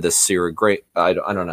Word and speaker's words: Syrah: I just immediately thought, okay, wine, and it's made with, like I said, the Syrah grape.